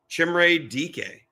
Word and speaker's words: Chimere Dike: I practiced that name today. Chimere Dike. I'm pretty sure I got that right because I actually brought up on Wikipedia the pronouncing.